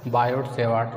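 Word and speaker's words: Biot–Savart: बायोट-सेवार्ट लॉ, यहाँ T silent है, बायोट-सेवार्ट लॉ।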